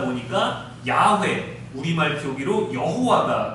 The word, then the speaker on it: 야훼: 보니까 그렇게 발음하다 보니까 야훼, 우리말 표기로 여호와가 된 것입니다. 언어학자, 성서학자들은 야훼가 좀 더 정확한 표현이라고 해요.